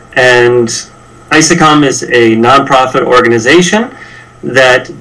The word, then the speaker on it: ISECOM: name speakers are I'm the managing director of I sakam is EC om is how it's spelled and I sakam is a nonprofit organization that build up to